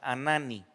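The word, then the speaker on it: Hanani: con el primer profeta que es anani se escribe con h al principio y lo demás es como suena anani vamos a hacer una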